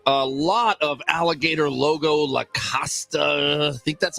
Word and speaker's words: Lacoste: A lot of alligator logo Lacoste, I think that's how you say it, shirts out there. Lacoste? You don't pronounce the last vowel.